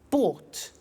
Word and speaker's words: bought: in the story so listen carefully to the pronunciation by bought you notice that oh u g HT is